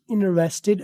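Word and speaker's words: interested: आई एम इन्वरेस्टेड इंटरेस्टेड British इनरेस्टेड American इंटरेस्टेड British American दोनों बोलते हैं अमेरिकन वाले पहले वाले टी को साइलेंट अक्सर कर देते हैं इनरेस्टेड ये ये सिर्फ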